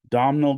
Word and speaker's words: Domhnall: One is let me say his name right, Domhnall Gleeson.